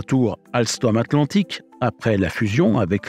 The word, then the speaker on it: Alsthom: Notez bien que même si cela ne s'entend pas, Alstom s'écrit alors avec un H.